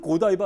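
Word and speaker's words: Godiva: 뭐 아시는 거 아 뭐 고땡바 고바네 고디바가 고디바 고디바 맞아요? 뭐 이게 원래는 영어로는 고다이바 아닌가요? 어 그것 그렇죠 뭐 레이디 고다이바데 발음에 따라 다르다고 하더라고요.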